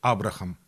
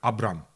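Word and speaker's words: Abraham: английском Ну еще есть Абрахам вот в английском очень часто H не произносится поэтому слово которое пишется Абрахам оно звучит как Абрам Авраам линко например вот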